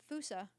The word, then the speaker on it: fossa: It's spelled I'll see you Fossa, which always later. confused me. Fusa. People call it fossa, but like Fossa? Fusa? I always heard Fusa. it's fusa in like Wikipedia.